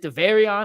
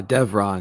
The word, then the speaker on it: Devron: His handle is right there under his @ Is it Thevarion? I never know how to pronounce that, Mack. Uh Devron.